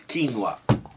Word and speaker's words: quinoa: South American gods give to the South American people quinoa, and pronounce it like it is, quinoa.